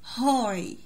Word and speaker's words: high: high ال G وال H هنا silent.